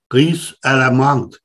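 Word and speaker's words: ris à l'amande: that they are snobs, they pronounce it in French, and the French wouldn't understand what it is. It is called riz à la menthe, which is described in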